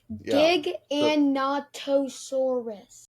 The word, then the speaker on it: Giganotosaurus: Let me see how to pronounce it. It's Giganotosaurus.